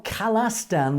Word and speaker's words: Khalistan: You say, look, Please spell khalistan with an A, not an I. If you check the pronounced word, it will sound khalas, not khalis. When we say khalsa, it's A, not khalisa.